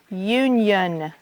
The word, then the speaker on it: union: And then there are the I-O-N, yun, that doesn't have the T. For example, union, Union, onion.